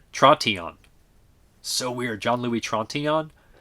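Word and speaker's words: Trintignant: The G and the final T become barely pronounced, so it's pronounced Tron-Tillon. Tron-Tillon. So weird. John Louis Trontinon.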